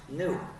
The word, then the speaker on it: gnu: why is the word gnu used for so much word play the reason is according to the dictionary it's pronounced new so people started asking